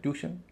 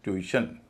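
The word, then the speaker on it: tuition: इसे लोग कहते हैं ट्यूशन लेकिन ये ट्यूशन नहीं है इसका उच्चारण है ट्यूशन ट्यूशन यानी यू के बाद इ है ट्यूशन इसी तरह एस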